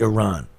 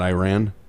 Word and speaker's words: Iran: it USA versus Iran tomorrow yes and it's pronounced Iran yeah not Iran no that's uh what flock as he goes